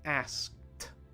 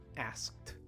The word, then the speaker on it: asked: the black hat asked remember that the ending ed for many past tense verbs actually makes a t sound at the end even though it's spelled ed so asked asked try it one more